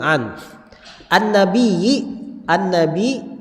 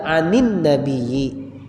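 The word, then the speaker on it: عن النبي: Karena sukun ketemu sukun, iltiqa'us sakinaini dalam bahasa Arabnya, bertemunya dua sukun, maka dihidupkan dengan salah satunya dihidupkan dengan kasrah. Maka dibaca anin nabiyyi.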